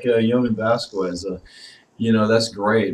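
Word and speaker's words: Jhonen: And it's like, you know, I was really into, I think his name is pronounced Yonin. I said it's spelled like it's Jonin, but I've heard people say Yonin Vasquez, the creator, of course, of Invader Zim.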